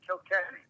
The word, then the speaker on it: Kilkenny: I said, Kilkenny, you know, like South Park.